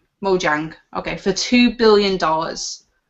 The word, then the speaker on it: Mojang: is Microsoft buying and I'm sorry if I pronounce this wrong mohang Mojang okay for two billion dollars potential I do